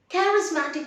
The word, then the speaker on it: charismatic: Charismatic means charming, a person who has lots of admirers and followers. Remember, the CH is pronounced as K and the S is pronounced as Z. Charismatic.